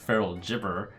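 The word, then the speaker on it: Feral Gibberer: a rules clarification for I'm being told that it's pronounced feral chipper adding copies of feral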